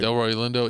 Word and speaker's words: Delroy Lindo: Delroy Lindo.